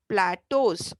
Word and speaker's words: plateaus: अभी इसे हम, ये spelling अलग है, but we will call this, pronounce this as plateaus.